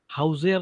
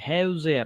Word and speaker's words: Häuser: Häuser नाही, Häuser. Why Häuser? A umlaut आहे म्हणून.